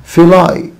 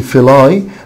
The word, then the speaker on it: Philae: Philae temple طبعا هنا حبايبي ممكن اقول Philae ده نطق وفي نطق تاني Philae Philae or Philae، اي نطق من الاثنين صح.